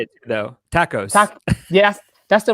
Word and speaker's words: TACoS: something i love how you say it though tacos yeah that's the right way to pronounce it vince you're right it is uh